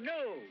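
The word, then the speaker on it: gnu: It's G-N-U, new. The G is silent.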